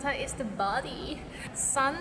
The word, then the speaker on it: 身: Sun is like sun in the sky.